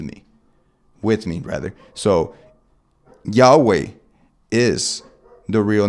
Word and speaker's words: Yahweh: is Right ladies representing the biblical pronunciation of y h w h which is pronounced Yahweh the Hebrew name revealed